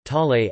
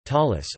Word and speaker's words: tallit: Tzitzit (Hebrew: zizayit, Ashkenazi pronunciation: tzitzis) are special knotted fringes or tassels found on the four corners of the tallit (Hebrew: talay, Ashkenazi pronunciation: talis) or prayer shawl.